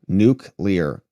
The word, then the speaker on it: nuclear: good and I'm pretty sure that's how you pronounce it because it's n u c l e a r nuklear so hopefully the department of the Secretary of